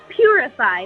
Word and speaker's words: purify: us, and he said, "I want you to say 'purify' like a like a church pew or a Star Wars sound."